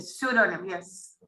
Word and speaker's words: pseudonym: P नहीं pronounce करना होता है, P silent. pseudonym, yes.